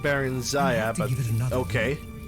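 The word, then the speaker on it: Barenziah: It's pronounced Baron Zaya, but give it another okay.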